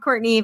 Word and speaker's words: Courtenay: It is pronounced Courtenay, but it's spelled Courtenay.